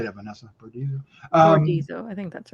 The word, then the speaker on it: Bordizzo: Bordizzo, I think that's right.